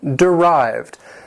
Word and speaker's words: derived: Number 10, derived. This word has 2 syllables. The stress is on the second syllable.